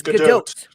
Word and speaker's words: Gadot: It's Gadot. Yeah. The T is hard. Yeah, it's definitely hard. But it's stupid. It's a hard T.